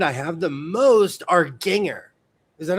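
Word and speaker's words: Gingher: The scissors brand I have the most are Ginger. Is that how you say it? Ginger.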